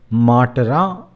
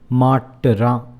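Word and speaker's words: மாட்டுறான்: And if you look at that, the word matara, I have made this U, the letter U, intentionally smaller for you to understand the pronunciation. Matara. And the U is muted, or rather quick.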